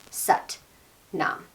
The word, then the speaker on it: Sat Nam: We're going to pronounce it like S-U-T, Sat Nam, okay?